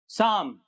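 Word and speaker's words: psalm: psychology, शाम, इसको शाम पढ़ेंगे, पी साइलेंट है यहां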